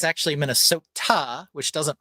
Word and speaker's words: Minnesota: But I'm like, it's actually Minnesota, which doesn't rhyme with Yoda. Right. But everybody in Minnesota says Minnesota. I say Minnesota. Yeah, Minnesota. Yeah, Minnesota. Water. It's a soft tap T.